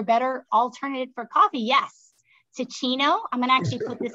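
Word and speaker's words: Teeccino: Yeah, it's spelled T-E-E, like teeing off in golf, T-Chino, C-I-N-O, T-E-E-C-I-N-O.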